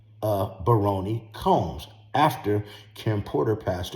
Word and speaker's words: Baroni: Her name's not Barron, it's Baroni. I'll spell it in the comments.